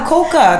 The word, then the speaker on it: Coca: And they go, Coca, that's how you say it here, Coca. So that was my first lesson. Don't say Coke in Ethiopia.